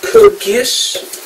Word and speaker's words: Code Geass: And I also picked up the first 2 seasons of Code Geass. That's how you pronounce it.